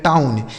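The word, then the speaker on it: town: औ जैसे टी से हो गया दोस्तों ट इस ओ डब्ल्यू का उच्चारण औ एन से हो गया नौ इसे पढ़ा जाएगा टाउन टी ओ डब्ल्यू एन इसे पढ़ा जाएगा दोस्तों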